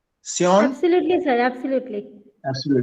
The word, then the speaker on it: Saon: I hope I have pronounced your name correctly. Saon?